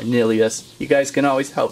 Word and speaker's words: Nillious: to team up against nihilus or nilius whatever you would like to say I for some reason like to say nihilus like a nihilist but I believe it's more nilius you guys can always